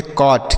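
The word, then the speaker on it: caught: आगे सी ए यू जी एस टी। इसे हम पढ़ेंगे कॉट।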